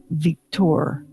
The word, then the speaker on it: Victor: And in French, the name Victor is pronounced Victor.